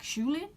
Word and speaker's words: Julien: So a guy, I can't pronounce his name, they pronounce it with a really like French accent, it's like Julien. But I'll just call him Julian for the purpose of this video.